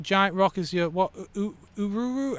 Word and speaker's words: Uluru: But I think nowadays it's the proper thing to try and use the original local pronunciation. Uluru? Ularu.